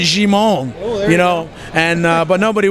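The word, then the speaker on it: Djimon: it well actually actually they called him German but I think it's actually Shimon you know and but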